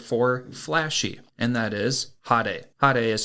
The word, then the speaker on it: hade: Today's Lance's Lessons is going to be the Japanese word for flashy, and that is hade. Hade is spelt H-A-D-E, and hade is very appropriate for this episode because our Hashira of the season is very flashy.